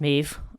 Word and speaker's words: Medb: Irish folk tradition and mave is spelled now the way that I'm spelling it for this podcast is me DB uh and that is in Irish that is pronounced mave um there are a